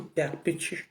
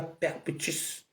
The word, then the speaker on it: Perpétue: pas appeler son nom on dit perpétue on dit pas perpétus ton image allait être